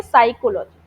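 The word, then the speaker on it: psychology: स एंड कोलॉजी okay साइकोलॉजी साइकोलॉजी आगे बढ़िए। इसमें जो पी वर्ड जो है पी एस वाई साइलेंट है। अच्छा पी साइलेंट है।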